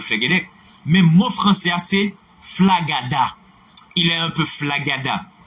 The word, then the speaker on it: flagada: F-L-A-G-A-D-A. Comme ça se prononce.